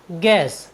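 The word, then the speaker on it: guess: यू E double S गैस गैस मीस होता है अनुमान साथियों यहां पर यू जी और वोवेल्स ई के बीच आया है इसलिए हमने यू का उच्चारण नहीं किया है हमारा नेक्स्ट वर्ड मीनिंग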